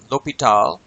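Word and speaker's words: l'Hospital: deop in 1696 u the S is silent in his name looks like hospital but it's lital and some people will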